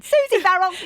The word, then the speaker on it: Verrill: Did I say your name a bit too quickly then? Susie Verrill. No, but you pronounced it right. Oh, did I? Yeah, you get thousands of brownie points. Do I? Yeah. Thank you. Yeah, I get Verrill a lot. They're a bit fancy.